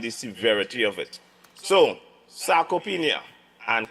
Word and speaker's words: sarcopenia: And today's topic is sarcopenia. And you know what happened? I will let Seth pronounce that second word.